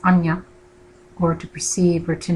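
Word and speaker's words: आज्ञा: The sixth chakra, also known as the third eye chakra, and in Sanskrit it's pronounced anya, or to perceive or to know.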